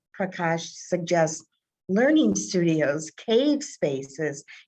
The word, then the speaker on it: Prakash: you might want to look him up it's p r a k a s h nair n a i r pronounced prakash he's breaking down these traditional four